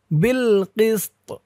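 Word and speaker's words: بِالْقِسْطِ: চিহ্নতে অক্ফ করার কারণে এখানে উচ্চারণটা কেমন হবে একটু খেয়াল করুন, বিল কিসত, কফ দিয়ে সিন কেও ধরবে, ত কেও ধরবে, কিসত, বিল কিসত, শুহাদা বিল কিসত।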